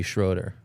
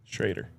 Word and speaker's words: Schrader: What's happening with uh Schroinger's running back Cody Schroeder. Shraider. Shraider. Yeah. What? I did the double on Andre perfectly. Me pronouncing his last name correctly.